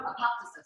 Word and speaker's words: apoptosis: Apparently, we've been saying it wrong our whole lives. So, Apoptosis.